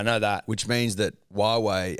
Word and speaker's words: Huawei: that which means that Huawei as a pronunciation usually throws the punter in the Dream well it does but not me no but a lot of people say who who we yeah but it did